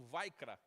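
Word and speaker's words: ויקרא: A pronúncia é alguma coisa como vaikra, em hebraico, mas, enfim, né, é a primeira palavra, literalmente, aí do texto.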